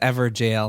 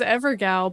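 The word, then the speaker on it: Evergaol: I thought it was Evergal, but ever jail makes it sound like it's spelled ever jail.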